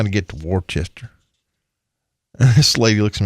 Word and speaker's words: Worcester: It's kind of like I've told you the story about Worcester. Being up in Worcester, Mass. Yeah, it's spelled Worcester, right?